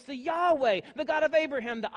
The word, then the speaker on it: Yahweh: with the same God Yahweh Yahweh as it actually is pronounced there in the Hebrew some of your translations